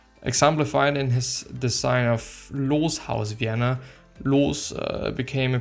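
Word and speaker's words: Loos: he did well that's that's the name german pronunciation or loss actually no it's it's laws i was an austrian architect an influential european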